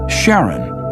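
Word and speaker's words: Charon: christe suggested the name Karen after the Ferman of Pluto's underworld in Greek mythology but preferred to pronounce it Sharon more like his wife's name Charlene from the Motions of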